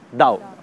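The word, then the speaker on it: 道: हम इसको पढ़ते हैं तो इट इज़ ताओ, TAO, बट we pronounce it एज दाओ।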